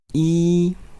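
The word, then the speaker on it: 一: lot of minutes now one is e yes good e e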